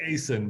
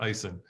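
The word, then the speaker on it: Aisin: this the I the icin and I'm like Aysen but it's pronounced Ison yes so they've had that six feet rightful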